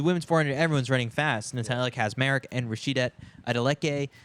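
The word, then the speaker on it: Natalia Kaczmarek: How do we pronounce the Polish girl's name? Natalia Kazmarek.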